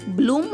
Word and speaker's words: bloom: మిత్రులారా, BL యొక్క శబ్దం బాలా కాకుండా బ్లా అవుతుంది. కాబట్టి BLOOM యొక్క ఉచ్చారణ అవుతుంది బ్లూమ్ అంటే వికసించడం.